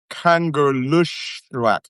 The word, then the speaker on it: Kangerlussuaq: And Kanger- You can see how it's pronounced. Kangerlussuaq. And when you see SSU in in Greenlandic or Kalaallisut, you have to make that noise like super snoop.